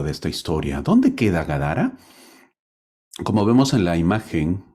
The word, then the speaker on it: Gadara: Ahora, el capítulo 8 de Mateo termina narrando que Jesús llega a Gadara. Gadara o... Sí, pues así se pronuncia, ¿no? Gadara o Gadara. La tierra de los Gadarenos.